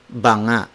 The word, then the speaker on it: banga: bang-ah it's buona notte Banga Banga means crashing when it's when two cars are crashing it's ponga but when you say Bona it refers to jar and also Bunga has an additional G after the ng consonant so dispelled as ba + g GA but if it's just ba ng a it's Bona Bona Bona the ng consonant can